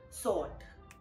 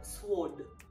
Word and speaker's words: sword: Another very common silent alphabet is in the word that I've seen being mispronounced, sword, which I'm sure we've heard it being called sword.